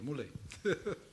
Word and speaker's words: Mule: Yeah, it's actually that's how they pronounce in India, Mule.